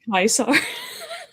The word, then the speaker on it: Kaisar: I really love how the subtitles, yeah, how they say pronounced Kaisar. Pronounced Kaisar.